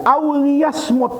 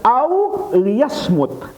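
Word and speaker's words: أو ليصمت: berbicara yang baik auliyasmut kalau dia ini bacanya auliyasmut helmnya dibaca maghfuroh pakai kasrah karena dia tidak ada Wow sebelumnya dan tidak ada nya ya Jadi dibacanya satu saja aw liyasmut atau orang tadi hendaknya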